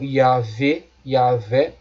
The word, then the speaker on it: Yahvé: Então Yahvé, parece ser a pronúncia mais apropriada.